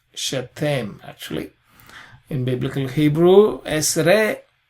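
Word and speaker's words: שתים: In biblical Hebrew, you pronounce the shva, shetem, actually.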